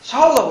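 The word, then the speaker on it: 小: 그리고 손자는 샤오라고 하잖아, 샤오.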